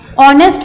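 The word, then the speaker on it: honest: ठीक है, ऑनेस्ट में your H is silent and you pronounce it, it sounds with O, इसीलिए ही इज एन ऑनेस्ट मैन है.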